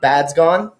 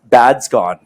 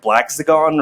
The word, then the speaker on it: Badzgon: It's Slovakian, so a lot of people get it wrong. It's pronounced Badzgon. Badzgon.